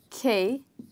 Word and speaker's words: chaos: Now let's find out, how do we pronounce this word? Okay. Chaos. So as you can see that I have written a part of the word in bold letters, which is K.